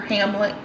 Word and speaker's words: Hamlet: not pronouncing it wrong the lead character is named amulet not omelette but hamlet yeah lots of treachery